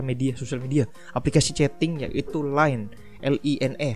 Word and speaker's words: LINE: aplikasi chatting yaitu LINE, L-I-N-E, LINE ya bacanya.